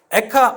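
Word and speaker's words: אֵיכָה: 제일 먼저 나온 단어가 뭐냐면 액트 아닙니다 될까 에카 애가 엘카 발음이 비슷한 에아 이스라엘 사람들도 역시 슬픈 노래를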